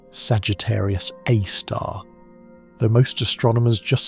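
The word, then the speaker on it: Sagittarius A*: lurk Sagittarius Aar, SG, A star for short, pronounced Sagittarius Aar, though most astronomers just say Sagar because we're all too tired to pronounce the full name properly after a long observing night.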